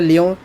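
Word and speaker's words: Lyon: Headquarter of Interpol पूछा गया था, तो ये होता फ्रांस का एक शहर है लियोन, तो लियोन बोलते हैं, लियोन नहीं होता, लियोन इसका नाम होता प्रोनाउंसिएशन, तो ये कहाँ पर आप लोगों का फ्रांस में स्थित है।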